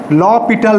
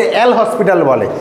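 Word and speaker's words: L'Hôpital: rule বাল ক্যাপিটাল অনেকে এল হসপিটাল একচুি ভুল উচ্চারণ ল পিটাল একচুি উচ্চারণ ল পিটালস রুল ঠিক আছে অনেকে বলে স্যার এল হসপিটাল রটা একবার বলে দেন তো এটা হসপিটাল না কিন্তু পিটাল ঠিক আছে অপ্লিকেশন যেটা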